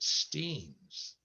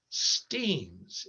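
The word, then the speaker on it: Steins: grant joe resurfaced on february 25 1895 at steen's steams it's pronounced steens it was named for enoch steen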